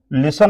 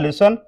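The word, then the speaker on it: listen: गया helping verb अब लिसन आएगा फर्स्ट फॉर्म डिड के बाद first form you did naught L आई एस टी ई एन हो जाएगा टी साइलेंट है लिसन यू डिड नॉट लिसन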